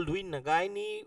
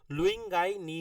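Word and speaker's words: Lui-Ngai-Ni: है लुई गायनी और लुई गायनी spelling actually उंग spelling होय सॉरी प्रोनाउंस तो उ होय लुंग गाई नी होय ठीक है इट इज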